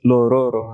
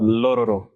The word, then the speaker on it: Lororo: It's not just Lororo, huh? Lororo. See how it flows the tongue.